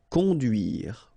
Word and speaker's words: Conduire: Okay, remember U, du, duire. Conduire.